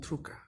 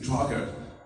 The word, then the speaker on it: Drucker: Quita la Y y escribe DR. Y pronuncias. Y digo, Drucker. Así es como tienes que decir. Truca. No vuelvas a decir Drucker, porque si alguna vez